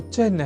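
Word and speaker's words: चिह्न: अर्थात चिन्ह में अर्ध हकार के बाद न इस अक्षर का संयोग होता है।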